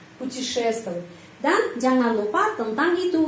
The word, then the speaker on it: путешествовать: Могут путешествовать, penekanan di sini karena itu huruf O ini pengucapannya A, путешествовать.